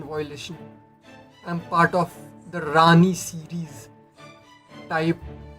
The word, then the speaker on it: Rani: Rani. Rani. So you are talking so you are taking our acronyms and sounding it out phonetically as a word for our name.